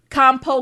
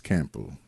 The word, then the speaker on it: Campo: Compo clothing. It's so many. It's Campo. I say it like that for a reason, nigga.